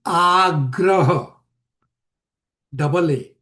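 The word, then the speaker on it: āgraha: So if you see agraha has a little line above the A, meaning you are pronouncing this as double A, means a longer A.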